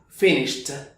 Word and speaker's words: finished: se ve ese Finish esa e no va a sonar como tal Recuerda que este sonido es el de una t entonces dirás finished terminé I finished I finished